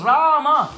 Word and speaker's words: Rama: wrong Oh No why the word Ram has two syllables please repeat rah and MA but what are these